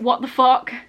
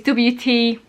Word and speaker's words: WTFOCK: I think you'd probably pronounce it what the fuck, but it's WTFOCK.